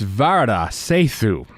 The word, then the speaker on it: Varada Sethu: It's Varada Sethu.